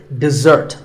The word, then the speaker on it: dessert: This is dessert. Notice that the first syllable is de and the second starts with a z sound. We stress the second syllable, dessert.